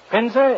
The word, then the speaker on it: Pinza: you call that old it brings this to Mr uh uh pinza is is that the way you pronounce it that is right it's your painter